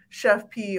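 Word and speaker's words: Chef Pii: and i'm going to say this correctly at chef pie and that's p i i pronounce p so i'm gonna say i thought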